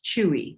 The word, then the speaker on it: Chewy: Ten, and whose first name is pronounced as Chewy. So that makes it easy to remember.